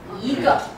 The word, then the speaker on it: 一个: So when you say one is 一个, so mostly when one combines with another word is second tone. 一个.